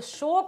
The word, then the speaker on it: शोक: लेकिन जो शोक होता है, शोक, उच्चारण पर ध्यान दीजिए, शोक मतलब होता है दुख।